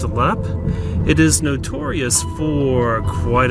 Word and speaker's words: Leap: the castle lap is spelled le AP but pronounced a lap it is notorious for quite a few gruesome